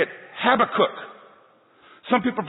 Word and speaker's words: Habakkuk: I could say it have a cook some people pronounce it habakkuk but when I was a kid I could never say habakkuk and so my mom says it's like have a cookie oh I could say